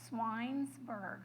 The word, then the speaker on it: Schweinsberg: Appalachian rednecks, and so they never pronounced the CH in his family. So because you're all adults, well, almost everybody's an adult, I'm going to trust you with this. Now, my high school students, I would never tell them how to pronounce my name like this, but I always tell people Schweinsberg, like pig's town.